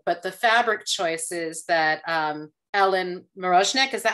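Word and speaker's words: Ellen Mirojnick: to the period, but the fabric choices that Ellen Marozhnik, is that how you say her name?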